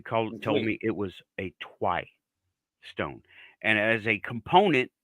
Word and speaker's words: Tuoui: doesn't But change you the pronunciation of it, by the way. right, you corrected me. You called it the twi. Right, you told me it was a twi stone, and as a component to a bigger